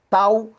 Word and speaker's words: Tao: Tauísmo ou daísmo, as duas as duas formas de se pronunciar estão corretas. tal ou da.